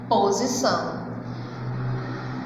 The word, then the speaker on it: Exposição: Exposição. A pronúncia é de S, mas a escrita é de X. Antes da consoante, eu escrevo X. E esse X, ele vai ter o som de S.